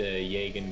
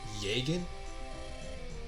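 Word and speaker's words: Jagen: it's the classic the Jagan guys, like the more experienced and worldly one type. Did you just say Jagan? It's pronounced Jagan, isn't it?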